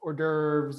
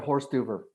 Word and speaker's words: hors d'oeuvre: It's, canapé is for like hors d'oeuvres or little, bite-sized snacks. Okay. Usually before a menu, before a dinner party or something like that. Yeah. So like a horse duver.